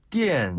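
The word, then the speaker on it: 电视: 띠엔실. 네, 맞아요. TV를 띠엔실이라고 했잖아요. 띠엔실. 네, 이것도 전기로 눈으로 볼 수 있게끔 만들어주는 거 띠엔실.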